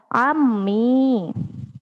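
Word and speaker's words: عمي: Pamanku dalam bahasa Arab adalah ammi. Marotan saniatan, ammi. Sekali lagi, ammi. Ammi. Nah berbeda dengan ibu ya. Mungkin anak-anak sering tertukar. Bu, ammi itu seperti ummi ya. Nah ini salah ya.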